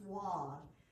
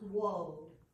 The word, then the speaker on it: Waud: And I thought his name was always pronounced Waud, but it's Waud.